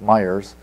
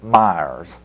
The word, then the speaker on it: Meyers: when I went there I had one syllable in my first name and two in my last I was Meyers and now they pronounce it more like Meers so that's I've changed